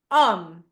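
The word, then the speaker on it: homme: the letter H so as is always silent in French there is no way it's gonna be pronounced okay so examples are um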